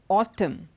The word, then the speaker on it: autumn: the silent letter n whenever n comes after M at the end of a word it is silent like for example these words autumn it's not autumn it's